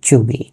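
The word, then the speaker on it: cheugy: আধুনিক নতুন আরেকটি শব্দ হচ্ছে চুগি। এই চুগি শব্দটি প্রচুর ব্যবহৃত হচ্ছে এখন, এটি আমাদের জানতে হবে। চুগি মানে, এর উচ্চারণটা খেয়াল করবেন এবং বানানটা খেয়াল করবেন।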